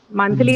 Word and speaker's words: monthly: So monthly is a word which can be used as adjective, adverb, and noun. But all the three class categories, they take the stress on the first syllable.